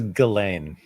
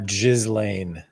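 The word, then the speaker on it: Ghislaine: And uh, Jizzlain Maxwell was interviewed by the DOJ said that uh, nothing. Her her name is Galain. Okay. It's not Jiz Lane.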